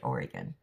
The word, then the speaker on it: Oregon: Pacific Standard Time here in Salem, Oregon. And and I don't know how many of you when I say Oregon, so many people pronounce that. It's really Oregon.